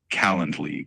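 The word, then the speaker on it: Calendly: It's typically pronounced like calendarly. Kind of like calendar without the R and just a Lee at the end.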